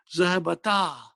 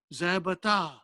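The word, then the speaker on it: ذهبتا: So how do you pronounce? Zahabata. Zahabata.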